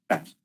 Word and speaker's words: SAS: And I told you we should pronounce it as a SAS. This is how we should pronounce it.